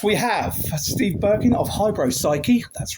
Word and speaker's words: Hybropsyche: With us, we have Steve Birkin of Hybropsyche. That's right. I've pronounced that correctly.